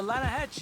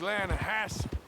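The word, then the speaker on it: Lannahechee: some beautiful steelhead trout you mean the Lana no no the lana hatch it runs right near here yeah but it's pronounced Lana Hass why is everything in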